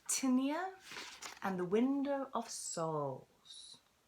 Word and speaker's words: Tinnia: Indeed, for the story we should call her Tinnia, for it rhymes with linear, the start of which our story begins. Tinnia had a feisty spirit,